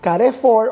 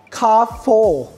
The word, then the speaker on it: Carrefour: Actually ang pagkakabigkas ko nga doun sa Car 4 dati is car for or care for kasi syempre hindi naman tayo brain hindi rin naman talaga tayo taga-Taiwan para malaman natin kung ano ba talaga ang bigkas. Pero ginugle ko talaga siya kung paano siya ibigcas. That's kafo.